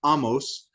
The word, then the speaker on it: Amos: uh in 768 uh the prophet amos technically pronounced amos uh begins his prophetic career in the uh